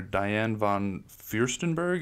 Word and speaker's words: Diane von Furstenberg: The first interview is with dress designer Diane von Furstenberg. Am I pronouncing that correct?